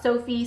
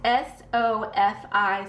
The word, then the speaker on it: Sofi: shop sophie sophie stickers i finally figured out how to say it this week it's sofi stickers if you want to check it out but i think i've been saying it wrong over on etsy they